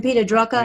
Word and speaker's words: Peter Drucker: How do you pronounce his name? Peter Drucker, Yeah.